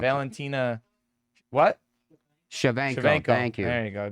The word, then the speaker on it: Shevchenko: pronounce it. Valentina. What? Shevchenko.